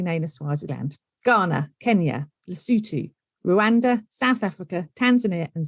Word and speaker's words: Lesotho: as Swaziland, Ghana, Kenya, Lesotho, Rwanda, South Africa, Tanzania and Zambia. I know everyone's thinking most of those are very easy to pronounce, but Lesotho does not look how it's said.